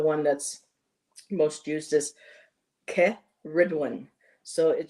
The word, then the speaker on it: Cerridwen: that's most used is K Ridwin. So, you're putting the emphasis on the the ridge in the middle of her name.